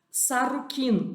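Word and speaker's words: Šarru-kīn: Pronunciava-se Sarrukin, quer dizer o rei legítimo.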